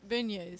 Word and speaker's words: beignet: for the volunteer effort, it was beignet, or how do you pronounce it? Beignets.